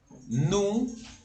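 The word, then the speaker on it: nous: de pronunciación de francés la o y la u cuando están juntas se pronuncian como una u del español normal y la de ese final no se pronuncia y sabemos que la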